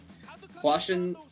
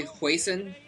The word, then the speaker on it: Hwasin: reason over the years keep telling me I pronounce wasan wrong wasan is how uh I've been told to pronounce it by people that speak Korean I used to say hon um but people told me that was wrong